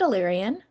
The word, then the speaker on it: Illyrian: So I did say it right. I said Illyrian.